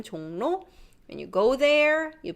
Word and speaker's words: 종로: When you read this, 종로 is hard.